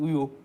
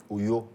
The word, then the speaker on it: Uyo: You better help me pronounce it well. Is it Uyo? Uyo. Uyo.